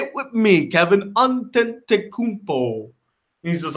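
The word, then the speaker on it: Antetokounmpo: last name they probably were sitting with you pronounced on ten Takuto say it with me Kevin unten takubo he's just like nine and I'm not gonna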